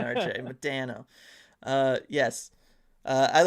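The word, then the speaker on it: Modano: I'm fond of the Flames Blasty and the Madonna Arrow at the old Stars jerseys. Yeah. The Madonna era jerseys. Yeah, those were good. Madano. Gotta say it like a Canadian, RJ. Madano.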